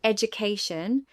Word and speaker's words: education: In the word education, the stress pattern is that the third syllable has primary stress, the first syllable has secondary stress, and the other syllables are unstressed.